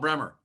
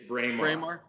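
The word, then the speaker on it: Braemar: be bremer bremer brainmar i call it bremer it's braymore yeah it's just chalk it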